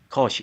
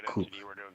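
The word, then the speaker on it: Koch: tus 56 uh 46 minutes in correction Christina uh from from what do I say from from how they actually pronounce her her last name is actually cook yeah cook something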